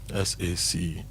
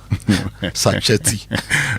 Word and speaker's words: sachet: Please, how do you pronounce this word? And I felt, okay, let's all learn it. S-A-C-H-E-T. S-A-C-H-E-T. Okay, how's it pronounced? Sachet. Not sachet. No. Not machete. Sachety. Not sachet. Not sachet. Sachet.